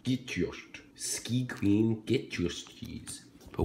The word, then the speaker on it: Gjetost: Now, I don't know how to pronounce what it is. J-G-E-T-O-S-T. Gjetost. Gjetost. Gjetost.